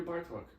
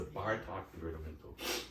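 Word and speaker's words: Bartók: hmm actually I hear Bartok interesting a lot more a lot more the second movement has that Hungarian first syllable accent it's something and the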